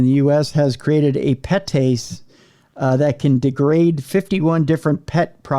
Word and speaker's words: PETase: One enzyme in particular, petase, I can pronounce that because it's PETase. Petase. That's like the rich part of that. Like you have pate, you have petase.